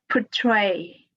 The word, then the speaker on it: portray: Portray, portray. The stress is on the second syllable.